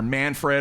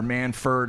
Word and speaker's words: Manfred: hopefully i'm pronouncing it it's either manfred or manford i think it's manfred and uh here was